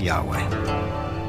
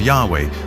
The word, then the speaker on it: Yahweh: and his name was these four letters which in english would be yhwh which we think were probably pronounced something like yahweh but yahweh only appears